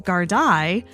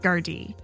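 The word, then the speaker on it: Gardaí: I went through the entire episode saying Gardai, when it should be, at least according to the internet, Gardai.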